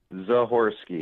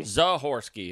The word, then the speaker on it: Zahorski: Is it Zahorski? Zahorski. Zahorski. Okay. It's not like the crystal, right? It's yeah, correct.